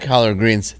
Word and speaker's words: collard: you're right i've had collard greens thank you yeah well they're terrible i used to think colored greens you're terrible then i found out that it was just like saying it right yeah it's basically yeah